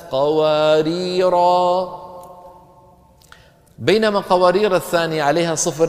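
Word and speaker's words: قواريرا: اللي شكل على شكل زيرو شكل بيضوي هكذا، هذا علامة أن هذا الحرف يقرأ وقفا ويسقط وصلا، إذا وصلنا الكلام لا ننطقه، إذا وقفنا ننطقه. كانت قوارير، قوارير من فضة، ففي الوصل ما في ألف، لكن لو وقفنا شو بنقول؟ كانت قوارير، بينما قوارير الثانية عليها صفر إيه؟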